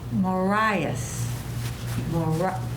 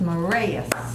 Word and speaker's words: Moraeus: Mr. Marias, no, Moraeus. It's pronounced Moraeus. Calagione.